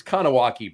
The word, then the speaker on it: Kahnawake: look by the way it's it's kowaki Brewing right but I remembered how to spell it because it's like con awake yes like Wrath of Khan Wrath of Khan awake awake and of kanak like